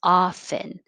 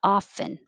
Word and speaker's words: often: syllables subtly subtly nine don't say the t just say often and the looks like an o but sounds like ah ah often 10 you can say